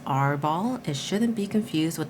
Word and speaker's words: RRR: And there is a designer's note that says, while RRR ball is often pronounced R ball, it shouldn't be confused with the pirate game of that same name.